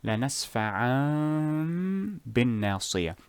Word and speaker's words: لَنَسْفَعًا بِالنَّاصِيَةِ: First you hide the tanween or hide the noon in tanween, لنسفعان, then turn it into a meme, بالناصية, لنسفعان بالناصية. This includes the غنة, and since we said that غنة takes 2 seconds or 2 harakas, the first haraka will be for the Ekhfaa, the second haraka will be for the transformation or Edghaam.